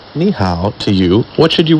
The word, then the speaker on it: 你: The pronunciation of 你 is similar to that of the English word me, and how similar to how. But the tone is totally different.